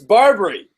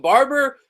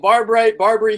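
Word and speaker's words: Barbre: story with Barbray, because people don't know how to say his name, but you got an inside scoop here on what the Eagles say on their website. It's Barbary. He's French. It's Barbary.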